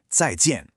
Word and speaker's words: 再见: That's pronounced 再见. See how both of those tones fall pretty sharply? 再见.